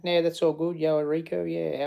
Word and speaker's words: Errico: Yeah, Errico. I think it is anyway. Well, that's how I like it being pronounced. Some people used to say Errico, but I'm really even not 100% sure myself. But I think my mum said Errico, and I say Errico.